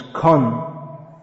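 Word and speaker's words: क्षण: Kshana means moment, becomes Kon.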